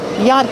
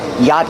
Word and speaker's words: yacht: are the Monterey Peninsula Yacht Club pronunciation yacht the CH is silent dough pronounce the CH